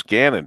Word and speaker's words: Gannon: how would you pronounce that Canyon don't know pronounce again and that's right joe says Gannon but I thought in Monroe we said it